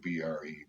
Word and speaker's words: timbre: It's spelled Timbre, but it's pronounced timbre.